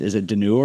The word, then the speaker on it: Dunure: How do I pronounce it? Is it Dunure? This is Dunure, yeah.